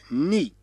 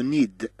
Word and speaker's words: nid: إذن عندنا أن أن لو ني، هنا لا نقرأ لو نيد. إذن أيضا حرف الدي أحيانا لا ينطق كما في مثالنا هنا لو ني، والمقصود به العش. هذا المكان الذي تجلس فيه القطة يسمى ني، وأيضا العش الذي نعرفه عند الطيور. إذن لو ني لو ني وليس لو نيد.